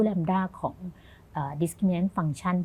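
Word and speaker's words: λ: 1 + อ่า อัน นี้ ก็ อ่าน ว่า แลมด้า เหมือน กัน เนาะ แต่ มัน เป็น เหมือน แลมด้า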